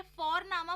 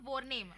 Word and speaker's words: Vorname: और हम यहाँ पे फोरनामा प्रोनाउंस करते हैं बट लिखते हैं उसको VORNAME। ओके, तो वो हम इंग्लिश के अनुसार प्रोनाउंस करेंगे तो बनेगा वॉरनेम, बट नो, इट्स फॉरनामा।